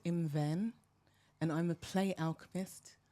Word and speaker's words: Imwen: My name is Iman Eke, pronounced Imven, and I'm a play alchemist, and I create spaces for adults to play.